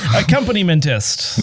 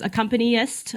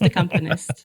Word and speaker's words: accompanist: no that's not it I think people add more syllables to that word there's accompanist accompany menst it's just accompanist accompanist okay componist yeah it's simpler than you think yeah that in my